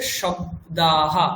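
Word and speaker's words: শব্দাঃ: তাহলে দেখুন প্রথম একদম বাদিকে উপরে রয়েছে শব্দাহা মানে তালব্য স ব দ যুক্তাক্ষর একসাথে যোগ আকার বিসর্গ। শব্দাহা এইযে হা বলছি এটা কি? এটা হচ্ছে বিসর্গের উচ্চারণ।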